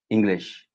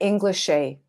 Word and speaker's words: English: English. Yes. That's how you pronounce it. You were saying Englishay. Englishay. It's English. English.